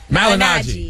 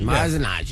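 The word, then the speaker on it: Malignaggi: How you pronounce Paulie's last name? Malinaji. Malinaji.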